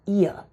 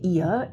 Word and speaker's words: ihr: online first of all the pronunciation of ihr is here it sounds like my ear not my nose needs a little bit